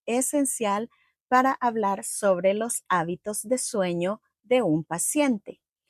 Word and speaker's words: hábito: Hábito de sueño. Sleep. Habit. Don't forget, don't pronounce the age. H is silent.